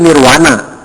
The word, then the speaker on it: Nirvana: Bukan vimanana tapi wimanana seperti nirfana bukan dibacanya nirfana tapi Nirwana di tulisnya V dibacanya W Nirwana tapi keukuh penggembar Nirwana